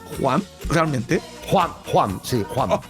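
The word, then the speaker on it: Wham!: Sí, es con una H aspirada muy suave. No es Juan Y ni además, Juan, sino Juan.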